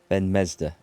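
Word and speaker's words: Ifan ben-Mezd: Ben Mesder. I'm going to have to try and remember how that's how it's pronounced.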